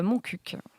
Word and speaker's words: Montcuq: Se prononce en réalité Montcuq.